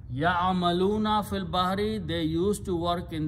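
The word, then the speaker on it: في البحر: So fil bahari, you don't pronounce this alif after that. It becomes hamzatul wasl. So final word is fil bahari. Ya'amaluna fil bahari, they used to work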